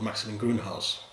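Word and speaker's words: Maximin Grünhaus: maxilin von trugod and this stage is called maximum greenhouse so i'm named after the estate and they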